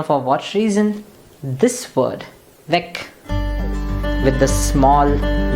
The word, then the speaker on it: Weg: But remember, Weg or Weg ends with a G, so the pronunciation will be K. So you should hear the K at the end of it. Weg, der Weg.